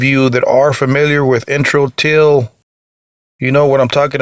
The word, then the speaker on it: Introtyl: is the bassist of intro till intro till in case you guys are wondering it's spelled I and TR o Tuyl like an intro intro till they got